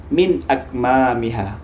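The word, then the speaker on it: مِنْ أَكْمَامِهَا: Maka dibaca min akmamiha. Min akmamiha. Jangan min akma, salah ya.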